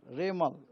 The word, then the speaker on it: Remal: cyclone बनने का बाद उनको नाम होगा रेमल रेमल प्रोसन होगा रेमल उसका spelling uh आर ई एम ए एल रेमल